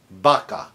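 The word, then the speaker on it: vaca: So if I say cow, that's baka spelled with a V as in Victor. Baka. So if I'm starting on it, doesn't matter is V as in Victor, Victor or B as in boy.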